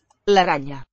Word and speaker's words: araña: La araña. Probably a palatalized N. Al crank. Don't hear a K at the end. La araña.